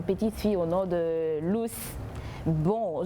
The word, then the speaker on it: Luce: fille au nom de Luce. Bon, je le dis en français parce que ça s'écrit L-U-C-E. Je ne sais pas, peut-être d'autres diront en allemand Luce, c'est comme vous voulez, mais je n'ai pas